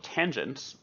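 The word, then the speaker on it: tanh: adding in the numerator there's also a hyperbolic tangent which is usually pronounced tange of t and that's defined exactly how you would expect if tan is sine over cos then tanch should be cinch over cosh that being the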